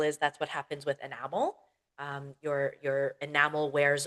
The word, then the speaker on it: enamel: Pay attention to the stress. It's enamel.